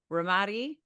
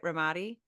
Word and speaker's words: Ramadi: His commitment to service runs deep, with over 2 decades in the Army National Guard, including a deployment to Ramadi, Iraq. Did I say it right? Ramadi?